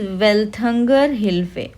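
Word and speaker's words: Welthungerhilfe: ठीक है, actually it इज़ वेल्थंगर हिल्फे। Okay, तो एक होता है वेल्थंगर हिल्फे बोलते हैं, यहाँ पे स्पेलिंग मिस्टेक है।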